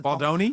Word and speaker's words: Baldoni: Yeah, but so I didn't know who this Justin Baldini was. The reason that did I say it wrong? Is that who you Googled? Baldini? Because that wouldn't come up. Okay. 'Cause it's Baldoni?